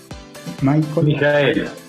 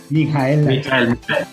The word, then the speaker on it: Michael: Para eso, hoy nos acompaña, ¿cómo lo debo pronunciar? Mijael. Mijael, sí señor.